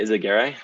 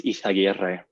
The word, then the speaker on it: Izaguirre: You can say Izaguirre, but correctly it's Izaguirre.